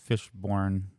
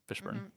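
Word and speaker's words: Fishburne: I saw uh Lawrence Fishborn. Fishburn. Fishburn. Fishburn. Did I say it wrong?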